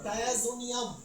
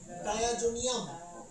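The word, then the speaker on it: diazonium: অ্যামোনিয়াম chloride ঠিক আছে ওকে তাহলে আমরা উচ্চারণ করব ডায়াজোনিয়াম ডায়াজোনিয়াম আর এরপরে ক্লোরিন থাকার কারণে নাম কি ক্লোরাইড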